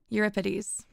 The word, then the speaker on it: Euripides: I believe the CH is pronounced as a K. I will bring fire to thee. Euripides.